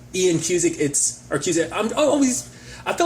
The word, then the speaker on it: Cusick: I think it is just Cusick, not Cusack.